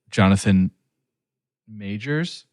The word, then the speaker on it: Jonathan Majors: Maybe a younger artist or maybe someone who, like Jonathan Majors.